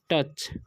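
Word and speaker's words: touch: इसे पढ़ते हैं ओ यू का उच्चारण अ हो रहा है, ठीक है, तो इसे पढ़ते हैं हम टच, ठीक है, ऑफ मिडास, ठीक है, मिडास, ओके।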